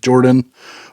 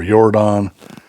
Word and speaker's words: Yordan: want to pronounce it Jordan or yordon I guess since he's not American it' be yordon stomach burning so there you